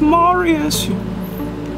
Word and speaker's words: Marius: It's pronounced Marius, you poofta.